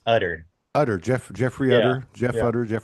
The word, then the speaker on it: Utter: Utter? Um it's actually pronounced Utter.